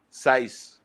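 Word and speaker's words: Saiz: Jesus Sayas or something like that. Yeah. Signs. So, Yeah. how do you say it? Size? Size.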